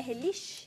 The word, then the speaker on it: relish: e 130 G do relish é relish relish relish essa é a pronúncia isso relish 130 G